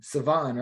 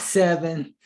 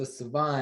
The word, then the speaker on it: Sevon: Sevon, right? Absolutely. That's right. Yes, sir. I got it right. So you guys are reading this Sevon, not Sevon, not Seven, Sevon.